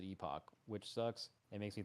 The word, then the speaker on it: Epoch: last Epoch okay JB the word is pronounced epic normally but the dev said on Reddit that they pronounce it Epoch which sucks it makes